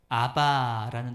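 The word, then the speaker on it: אבא: 그 아람어에는 아바라는 단어가 있습니다. 아바. 뭐 따라할까요? 아바. 그게 우리나라 말로 굳이 번역하자면 아빠 이런 비슷한 말이에요.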